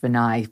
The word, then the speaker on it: Vinay: of an A's it's spelled vinay but it's pronounced benai forgive me I always forget um on his